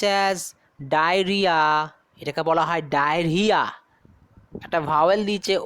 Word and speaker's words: diarrhoea: নাম ডায়রিয়া, DIARRHOEA, DIARRHOEA, Dier হইয়া মনে হচ্ছে বলছি, ডায়ার হইয়া, ডায়ার হইয়া হয় না, ওটা সাইলেন্ট থাকে, বিকজ পরপর দুখানা দেখো ভাওয়েল আছে, তিনখানা পরপর ভাওয়েল আছে, সো আমরা বলি, উচ্চারণ করি ডায়রিয়া।